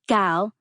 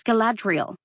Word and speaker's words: Galadriel: "And it is not Gal. It has never been Gal. It's Galadriel."